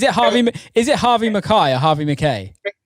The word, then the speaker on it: McKay: Is it Harvey McKay or Harvey McKay? It's spelt McKay, but it's actually pronounced McKay.